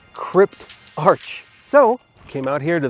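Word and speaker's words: Cryptarch: activity like going to the Crypt Arc so I finally got this figured out you're supposed to pronounce it Crypt Arch so came out here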